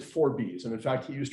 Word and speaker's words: Forbes: I know we would normally pronounce that Forbes, but he pronounced it Forbes.